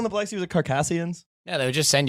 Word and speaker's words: Circassians: I said Carcassians. I'm right. All the history books say Carcassians. Everyone who says Circassians actually just read it and never heard it pronounced.